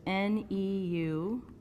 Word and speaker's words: Neuber: So it's Neubers. All right, that's the German pronunciation of the EU diphthong there, so Neuber's rule.